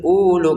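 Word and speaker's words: أُولُو: Nah, untuk kata ulu di sini wau yang pertama ada bulatan kecil. Jadi kita jangan panjangkan ulu gitu ya. Ulu enggak boleh. Ini tetap dibaca pendek ulu gitu karena di atasnya wunnya ada bulatan kecilnya.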